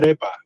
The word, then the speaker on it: arepa: No, it's arepa. It's like F instead of ape.